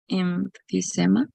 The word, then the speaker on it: emphysema: This one, Emphysema. emphysema, right? PH always like an F.